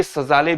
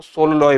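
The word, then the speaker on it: Szalay: इनकी स्पेलिंग से आप कंफ्यूज मत होइएगा क्योंकि यह सजाले भी लिखा जा रहा है कई जगहों पर। लेकिन हंगेरियन भाषा में इनको सोलॉय पढ़ा जाएगा।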